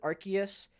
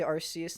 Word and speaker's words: Arceus: I know a lot of people prefer to pronounce it Arceus. Too fucking bad. I say Arceus instead.